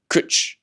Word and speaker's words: cwtch: The W is said like the U in book. Kutch. It's used for all hug